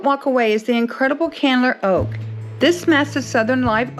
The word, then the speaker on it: Candler: Is that how you pronounce it, Candler?